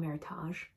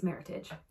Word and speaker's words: Meritage: saying what it is Meritage Meritage which makes me think it should be called Meritage but it's Meritage it's how everyone pronounces it um and I wore